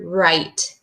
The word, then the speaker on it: right: k-now and then same with a word right can you guess what you can't hear that's right the gh I hear the r